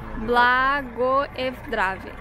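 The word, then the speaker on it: Blagoevgrad: Como é que se pronuncia o nome? A última palavra que tá Blagoevdrave. Blagoevdrave. Essa aqui é a rodoviária de Blagoevdrave.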